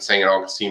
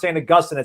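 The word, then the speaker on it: St. Augustine: plays for i think singing augustine high school um it's pronounced saying augustine okay someone corrected me the other day either way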